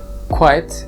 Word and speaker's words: quite: there is little noise quite is a short one-syllable word meanwhile quiet has two syllables quite quiet the next